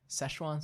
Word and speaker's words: Szechuan: Did you know what that McDonald's announced, and they currently have Szechuan sauce and Cajun sauce.